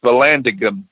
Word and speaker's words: Vallandigham: dig it's it's Vallon v Vallandigham so it's pronounced Vallandigham he became the supreme commander and out of